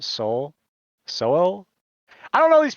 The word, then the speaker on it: Sowell: It's pronounced Soul.